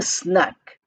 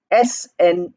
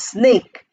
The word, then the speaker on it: snack: then it becomes a snack. Snack. Snack. Many people mispronounce it as snake. It is not snake.